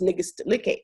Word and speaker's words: Nnegest Likké: name like Nnegest Likké, my name is actually pronounced in Ethiopia, it's pronounced Nnegest Likké. So that is even harder than Nnegest, for Americans, let alone Black Americans.